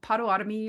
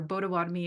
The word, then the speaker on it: Potawatomi: I also have relations into the community of Shoal 40 through marriage, and I am Potawatomi or Potawatomi as we pronounce it as Haudenosaunee from the Six Nations territory and Ukrainian.